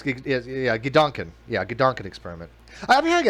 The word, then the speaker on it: Gedanken: Okay, how do you pronounce Gedanken then? Gedan. Gedankenexperiment. Gedanken.